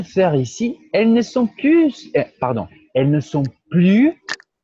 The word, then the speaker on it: plus: Elles ne sont plus, pardon, elles ne sont plus, c'est bon de te dire. Nathalie, le plus au négatif, on ne prononce pas le S.